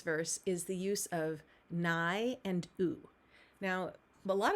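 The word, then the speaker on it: ναί: be a no so nay in greek or nai the in the pronunciation that we uh we have assigned for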